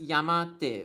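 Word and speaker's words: 山手: So this one there are two ways to read it. So the original pronunciation is just yamate which means uh hand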